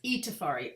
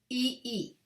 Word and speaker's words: Itafari: It's Itafari. I sound like E's. I'm not going to give someone a grammar lesson in a foreign language, but if I write it out phonetically, EE-TA-FAR-EE, Itafari, people will say it correctly.